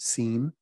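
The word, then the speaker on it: SIEM: information event management systems abbreviated you can pronounce it scene but those are those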